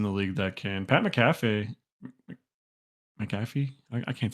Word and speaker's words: McAfee: Pat McAfee McAfee. I can't say his name right now. McAfee. Yeah, McAfee. like the antivirus McAfee.